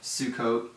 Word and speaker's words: Sukkot: The Hebrew pronunciation of Sukkot is Sukkot.